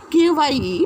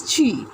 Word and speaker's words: Kyi: In the late 1980s, Aung San Suu Kyi, Kye, but the pronunciation is Chi, Aung San Suu Kyi, became the leader of the Burmese National League for Democracy but was imprisoned.